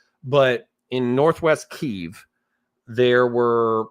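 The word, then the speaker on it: Kyiv: And what ended up which by the way I I pronounced it at Kiev up until like literally two years ago but in northwest Keev there were like you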